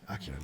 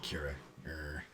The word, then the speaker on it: Acura: p uh just before Acura Acura yeah akura not Aura but yeah I'm I'm